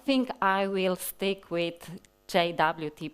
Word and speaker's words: JWT: take a look at the RFC, the suggested pronunciation of JSON Web Token acronym is the same as the English word JWT.